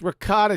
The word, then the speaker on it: ricotta: hate it i just hate the way you say it it's regard it's ricotta cheese it's r i c